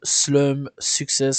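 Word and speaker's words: Slump6s: découverte du jour aujourd'hui on va parler de slum success c'est comme ça que ça se prononce donc ça s'écrit slump avec un 6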